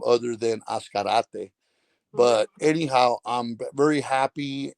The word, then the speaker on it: Azcarate: um um names I've been how people have pronounced my last name other than ascarate but anyhow I'm very happy and appreciate appreciate